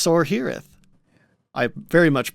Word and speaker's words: Sorhiryth: You're leaving out the first R. Like, come on, man. Me? I'm saying Sorhiryth. You said Sorhiryth. It's Sorhiryth.